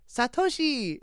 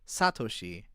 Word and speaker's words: Satoshi: Because in Japanese everything is everything is pronounced with emphasis on a specific syllable. So like you would never say satoshi, you say satoshi.